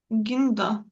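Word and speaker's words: guinda: От іспанці вигадали такий спосіб через оцю глуху у, яка випадає, але дозволяє ґ зберегти звук дзвінке звучання.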